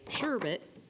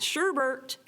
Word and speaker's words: sherbet: syllables in that word now when I say the word sherbet some of you at Elm are saying that sherbert well if you look at the word we say it sherbert but I want you to look at how it's really spelled no matter how you